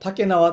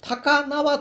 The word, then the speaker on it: 竹縄: 竹縄とはですね、竹の縄と、書いて、実はその竹縄ではなく、高縄と読むんですが、